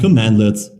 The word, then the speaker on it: cmdlet: bar by the way Powershell commands are called commandlets at least it's pronounced commandlet it is written cmdlet commandlets usually